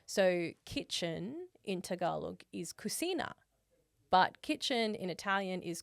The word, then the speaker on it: cucina: And in Italian, the K sound is actually CH. But because cucina is spelt, or cucina is spelt like with one C, it becomes like a ch sound.